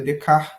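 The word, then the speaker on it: Descartes: do descart né que a pronúncia correta seria descart né do francês e ele vai fazend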